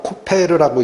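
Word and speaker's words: כֹּפֶר: 요게 히브리어로 코펠르라고 읽히는데 무슨 뜻이냐?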